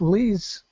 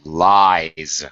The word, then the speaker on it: lies: And second one is Liz. No, it's lies.